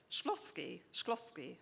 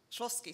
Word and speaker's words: Shklovsky: I will tell them about Shklovsky, that's how I pronounce it, the Russian formalist.